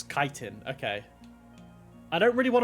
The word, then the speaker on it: chitin: I'm not gonna lie, I thought it was always pronounced chitin, but it's chitin.